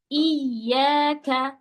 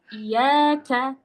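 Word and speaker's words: إِيَّاكَ: Contoh di iyyaka. Teman-teman bacanya iyyaka. Nggak ditasdidkan dengan baik dan betul.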